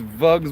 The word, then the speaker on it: vugs: spelled with a V we're not saying bugs with a B it's vugs with a V all right snow already